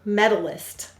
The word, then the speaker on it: medalist: How many syllables in medalist? Three. We will say to spell med-al-ist. What will we say to spell? Med-al-ist. Let's sound it out. The first syllable is med. M-e-d. The second syllable is al. A-ul. The third syllable is ist. Is. Use a s-z.